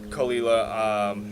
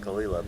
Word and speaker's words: Caol Ila: people of KC because you're saying kalila but it's just look at the title of the video that's how you spell it yeah it just doesn't sound like I'm gonna say that